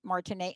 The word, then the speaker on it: Martine: you because they can go to your website martinay right martinay and it's m-a-r-t-i-n-e-e right m-m-o-n-s right so Martin